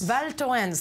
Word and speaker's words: Val Thorens: well how do you say that name adorns Val Joanne's thank you in the French Alps with some